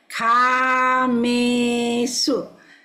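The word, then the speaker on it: kāmesu: Kamesu. A is long, E is long, so it's kamesu.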